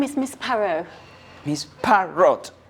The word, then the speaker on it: Parrot: my name is Miss pero he's part wrote like the birds no no no not not parrot PA are are ot yes but it's pronounced perro the T is silent peril okay miss peril